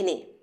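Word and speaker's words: know: আজ আমরা সেগুলো শিখে নিই।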